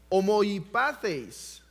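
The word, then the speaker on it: ὁμοιοπαθεῖς: Nosotros también somos hombres, pero la palabra que se usa aquí es una palabra griega que se pronuncia homoipatheis.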